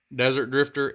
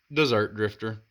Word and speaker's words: Dessert Drifter: uh a lot of people will call it desert Drifter it's dessert Drifter two s's make it sweet so it's like